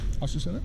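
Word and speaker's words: Azucena: You pronounce it Asusena? Yeah.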